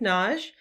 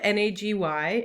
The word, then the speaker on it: Nagy: It's spelled N-A-G-Y, and a lot of people say that as a two-syllable name, Nagy, but I use the Hungarian pronunciation, which is Nagy.